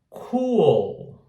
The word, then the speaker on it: cool: Lembrem-se, presta atenção também no L do final, porque em português nós não usamos esse L do final, a gente não pronuncia, tá? Em inglês precisa pronunciar. Principalmente nessa palavra e na próxima, agora que eu vou falar, tem um L no final. Então, tem que colocar a língua no céu da boca, tá?